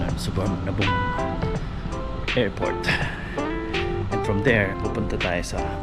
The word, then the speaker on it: Suvarnabhumi: Thailand sa ano kami suar na boom y daw yung pronunciation ng suar na boom airport and from there